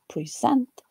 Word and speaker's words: present: first syllable, whereas the peak on the second syllable in the verb, present, is not quite distinct, probably because the first